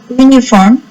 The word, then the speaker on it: uniform: That's why here you have to write a uniform, pronounced like you.